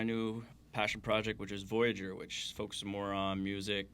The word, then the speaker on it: Voyageur: started a whole new How do you pronounce that? Because Voyageur. Voyageur. So I wanted to do really French.